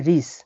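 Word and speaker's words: рис: দেখুন এই পি যেটা, পি, পিকে রাশিয়ানে উচ্চারণ হয় আর হিসেবে। তাহলে এটা আর, এটা আই, আর এই সি যেটা, এটা উচ্চারণ হয় এস হিসেবে। তাহলে রিস, রিস।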